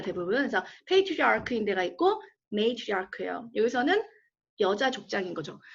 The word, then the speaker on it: matriarch: 발음이 어떻게 돼요? matriarch예요. 되게 어렵죠 발음이. matriarch. matriarch 그러지 마시고요. matriarch. 크 발음이에요.